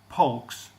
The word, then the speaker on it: Polk: The 11th president is James Knox Polks. Is almost spelled like folks, so P-O-L-K instead of F-O-L-K.